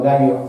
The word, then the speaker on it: Gayo: Ahí es malo, pero también al amado Gayo, que se pronuncia así aquí, podemos decir que dice cosas buenas.